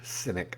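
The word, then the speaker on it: Sinek: There's a a business consultant, leadership consultant, uh, his name is Simon Synynic. I think that's how you pronounce his name.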